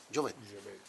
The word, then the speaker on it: Jovet: Jovet. Está bien. Es francés, se supone que la T no se pronuncia, pero...